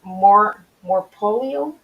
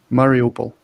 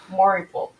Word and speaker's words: Mariupol: the story heroes, and she is from Morpolio. I want to say it right, Mariupol. Mariupol.